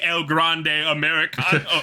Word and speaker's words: El Grande Americano: I say El Grande Americano.